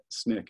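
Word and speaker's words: SNCC: of purpose first nick and snick is how you say the student nonviolent coordinating committee um he gets basically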